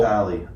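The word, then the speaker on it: Papale: Papali. Palette, not people. It's spelled like people though, isn't it?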